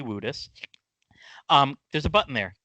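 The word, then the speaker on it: Woodus: is spelled WOD us it's spelled like would us but we've had many conversations over the year it's definitely wouldest um there's a button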